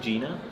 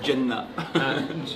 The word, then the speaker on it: Jena: You say, how do you say it? I think Gina. Yeah, but you say it like it's a facility. You say it in like almost Arabic. You say Jenna. Gina. I don't Yeah, Gina. Gina facility.